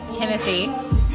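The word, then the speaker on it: Timothée: It's actually pronounced Timothy is our special guest this evening.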